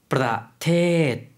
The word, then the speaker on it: ประเทศ: 프라테드. 단어가 조금 길어졌죠. 프라테드이라고 발음을 해주시면 되겠습니다.